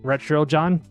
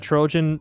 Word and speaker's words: Retro John: The name started with You mean Retro John? Retro... what was it? Retro John. The pronunciation is a bit odd. Ah, is it that Trojan from the Trojan horse?